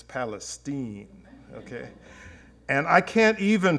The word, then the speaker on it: Palestine: okay now I was always brought up to pronounce that as Palestine but in Texas its Palestine okay and I can't even pronounce how Texans